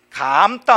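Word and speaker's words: 감다: 감따 한번 해볼까요? 감따. 머리를 감따, 실을 감따 할 때 감따, 이거 긴 소리예요.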